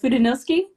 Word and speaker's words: Fudenosuke: How do you pronounce it? The Fudenosuke. Oh, Fudenosuke.